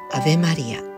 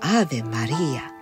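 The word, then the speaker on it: Ave Maria: ことが言えます例えばアベマリア正確な発音で言うとアーベマリアこの題名で同じ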